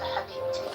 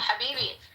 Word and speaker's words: habibi: You're going from calling me dog to Habibti. See, dog is a Kabbalistic word for God, so don't sweat it, goddess. AKA Scarface. That was just Habibi. Habib? No, Habibi.